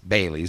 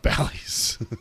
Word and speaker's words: Bailey's: It's spelled Bailey's. Bailey's. Not Bally's.